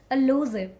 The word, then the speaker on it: elusive: my surroundings that people they call it elusive but they correct to where do you say this word is elusive elusive only a low zip elusive this one how